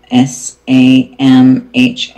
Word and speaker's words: Samhain: And for witches or pagans, October 31st or Samhain, it's spelled S-A-M-H-A-I-N. Okay, so I pronounced it wrong. It's Samhain in pronunciation.